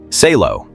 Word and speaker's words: Salo: Salo two syllables.